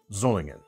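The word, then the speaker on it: Solingen: But I used I I learned to pronounce this word with the kind of sz the zz sound zulling from our friends at Boer Germany. So if you're ever curious as to like what how to pronounce that word zolingan is the best approximation I can do as a dirty American.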